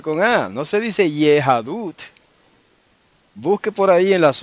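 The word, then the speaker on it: יהדות: pronuncia la palabra para judaísmo en hebreo se pronuncia yahadut Okay ya adut se pronuncia y a h a d u t yahadut entonces ahí tiene usted ot un ejemplo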